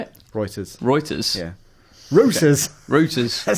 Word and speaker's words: Reuters: Reuters. How do you say it? Reuters.